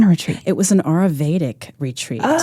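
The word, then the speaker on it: Ayurvedic: It was an Auravedic retreat. Oh, it was delightful. Oh, it was it was Spell that for us.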